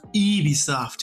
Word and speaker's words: Ubisoft: how do you how do you even say Ubisoft and it's like it's pronounce Eevee soft and then he goes ugh the French that's